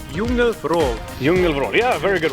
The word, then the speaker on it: Djungelvrål: Called the Djungelvrål. Djungelvrål. Djungelvrål. Yeah, very good pronunciation.